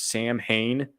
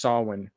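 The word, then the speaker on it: Samhain: I'm not like looking like complete calling this Sam Hayne but this the s m ha a i n is pronounced Sinn and it's Irish so Irish okay come on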